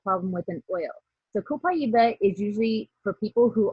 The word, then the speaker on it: copaiba: It's copaiba or copaiba. It comes from Brazil. So Copaiba. it's pronounced like it would be in Spanish. Copaiba is its correct pronunciation.